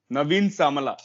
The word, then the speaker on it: Naveen Samala: Can you pronounce it again? I forgot like something. Naveen Naveed. Samala. Naveen Samala.